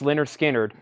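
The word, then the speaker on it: Lynyrd Skynyrd: want a fantastic sound and record this is pronounce Leonard Skynyrd this is 100 analog mastering that is something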